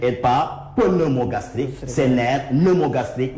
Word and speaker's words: pneumogastrique: C'est nerf pneumogastrique. Le P ne se prononce pas.